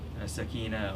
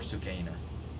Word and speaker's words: Sakina: Sakina or Sukaina, either pronunciation.